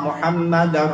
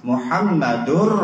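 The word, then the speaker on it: مُحَمَّدٌ: Anna maka harus fathah lalu kalau Lailahaillallah Muhammadur Rasulullah Kenapa karena Jadi mubtada Bu Jangan dibalik-balik coba kalau kita dengar azan ya Ada Lailahaillallah muhammadar rasulullah Jangan gitu bacanya tuh lahan salah Muhammadur Rasulullah kalau tanpa anak ada lagi ibu-ibu yang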